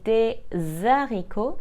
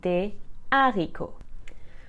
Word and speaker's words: des haricots: remember we don't say de zariko because the H is considered aspirated and not silent so we must say de arico con is pronounced ma'is